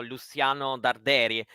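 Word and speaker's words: Luciano Darderi: should be what's the correct what's the correct pronunciation then well he should be named as as an Argentinian player so Luciano derei in Italy everyone says yeah and Miss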